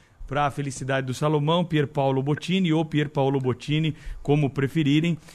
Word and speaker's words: Pierpaolo Bottini: mottini os aloés permite corrigir agora falando que é pior paulo viu porque ele não gosta que a gente chame os italianos com essa pronúncia que todos chamam então para a felicidade